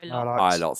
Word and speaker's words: Ilott: I don't know how it's pronounced. Ilott, thank you.